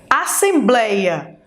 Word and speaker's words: assembleia: Assembleia. Assembleia. Então, o blei é a penúltima sílaba, ou seja, paroxítona.